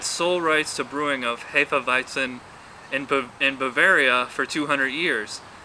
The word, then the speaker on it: Hefeweizen: Need to finish up these Hefeweizens. Oh, I know it's actually pronounced Hefeweizen.